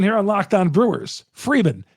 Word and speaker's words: Freeman: of factors in those two things Chuck it's pronounced kintana well said Chuck Freeman here on lock on Brewers Freeman not frian not fredman not Friedman I've had my name spelled and pronounced so